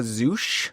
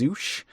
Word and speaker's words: Zouch: Ashb de la Zouch. I think it's Zouch.